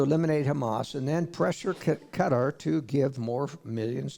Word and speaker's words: Qatar: the Persian Gulf and you'd pronounce it Qatar but it's cutter and the International Community